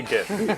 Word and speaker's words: GIF: Pronounced Jiff. I say giff. It's a G. It's not a J. It's not Jiffy Lube. If it was a G, it would be Giffy Lube.